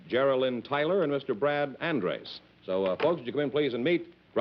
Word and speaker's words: Andres: the way you pronounce it? Andres, yes.